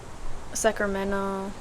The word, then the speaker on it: Sacramento: don't like remember the we don't pronounce like the T Sacramento Sacramento Sacramento or like if you